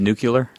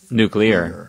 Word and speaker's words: nuclear: over here does anyone have a problem with nuclear nuclear that's not yeah it's not the right pronouncing pronunciation right nuclear nuclear nuclear nuclear yeah nuclear not nucle not nucle nuclear